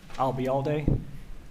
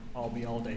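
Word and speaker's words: Ayalde: was that you uh remember the phrase I'll be here all day and drop it here I'll be all day you got it and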